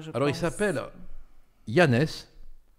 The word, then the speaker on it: Janez: Alors, il s'appelle Janez. On prononce à la française, on a le droit. Hein.